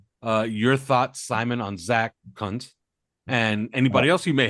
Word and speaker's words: Kuntz: And man, I keep looking up his pronunciation, and damn it, if the pronunciation of his name is not Zach Kuntz.